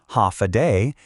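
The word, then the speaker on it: Håfa adai: Ha adai pronounced ha a day.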